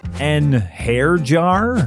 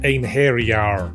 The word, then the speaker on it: einherjar: and those are just the ones I can pronounce an hair jar it's pronounced Anar say tires it's satas okay I think I